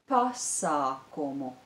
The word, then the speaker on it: pasākumu: The stress is on the syllable bi, biļetes, and on the syllable pa, pasākumu.